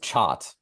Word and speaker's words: Chot: It's pronounced Chot, like rhyming with Scott, like CHOT.